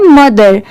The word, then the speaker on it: mother: क्योंकि THER है, बट यहाँ पर MO है तो इसे मोदर नहीं पढ़ेंगे. यहाँ पर इसकी प्रोनाउंसिएशन क्या है? मदर, मतलब सिर्फ म की साउंड आ रही है. ठीक है, तो यहाँ पर ये जो O लेटर है ये साइलेंट है, यहाँ पर O को ऐड नहीं किया जा रहा है, बस इसे लिखते टाइम लिखा जाता है, बाकी पढ़ते टाइम सिर्फ मदर.